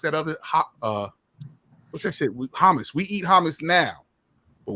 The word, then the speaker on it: hummus: I knew to pronounce it hummus. Hummus. You got to get a little phlegm in your throat when you pronounce it.